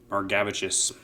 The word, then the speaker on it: Margavicius: I know I butcher a lot of names, but Margavicius is actually how you do pronounce it.